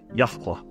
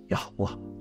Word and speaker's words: Yahweh: Yahweh. Not only do I believe that's the closest pronunciation according to all the evidence that I can find, but quite frankly, I like the way it comes out. Yahweh.